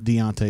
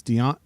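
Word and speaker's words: Deone: spelled his name wrong his name is not Deontay Walker it's Deon it's on there's no t i can damn near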